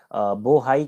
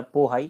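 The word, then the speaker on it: Bohai: और ये बोहाई की खाड़ी, या इसी को चिहली की खाड़ी बोलते हैं। तो बोहाई या पोहाई कुछ भी आप बोल सकते हैं, इसका प्रोनाउंसिएशन चाइनीज लैंग्वेज में अलग अलग है।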